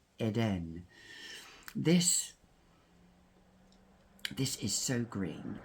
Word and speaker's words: Eden: because I love Cashel it is Eden or as the French pronounce Eden this this is so